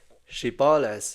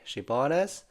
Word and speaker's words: Shibboleth: they would tell him to say "Shibboleth." If he was from Ephraim, he would say "Sibboleth" because people from Ephraim cannot pronounce the word correctly.